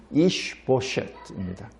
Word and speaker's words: 이스보셋: 사울의 아들 이스보셋을 데리고 왕으로 세웁니다. 여기 이스보셋 하면은 우리말로는 이스보셋인데 이것을 그냥 히브리 발음으로 그냥 하면 이슈보셋입니다.